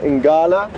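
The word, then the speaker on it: ngala: or also known as inati is Buffalo L inala leopard and that would be spelled n g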